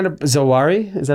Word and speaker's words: Zawahiri: Zawahiri? Is that how you pronounce his name? Zawahiri, yeah.